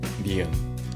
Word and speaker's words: ㄴ: Next is neon. This one is also easy. If you can pronounce the English N sound, that's basically neon. Again, just remember not to hold the sound for too long.